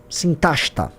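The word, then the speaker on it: Sintashta: que estão todos esses que estão aí, procura lá sinta horizon sinta que se escreve s i n t a s h t a sintasta eu tô chato tô meio nerdão falando ou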